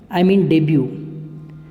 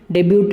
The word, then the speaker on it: debut: इसमें टी को हम नहीं बोलते, जैसे डाउट DOUBT, तो इसमें टी साइलेंट रहता है। तो इसी तरह से ये जो टी है इसको हम नहीं बोलेंगे, डेब्यू बोलेंगे, डेब्यूट नहीं बोलेंगे।